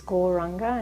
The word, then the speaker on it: Gauranga: The mantra is Gauranga, and it's said in 4 syllables: Gaur, Ra, Ang, Ga.